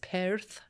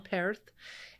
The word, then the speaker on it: Perth: There's contests at it's at Perth, but it's Perth. You got to say it right. If you're over there, don't say it wrong. Perth.